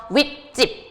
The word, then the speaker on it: 윗집: 윗집, 아랫집, 찝찝찝 하고 뒷말이 예사소리가 뭐로 발음돼요? 된 소리로 발음이 되죠.